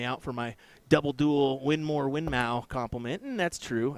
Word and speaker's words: Winmau: somebody's calling me out for my double duel winmore winmau compliment and that's true I did I